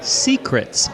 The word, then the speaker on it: Seacrets: are coming at you from secrets that's spelled s e a c a jamaican-themed bar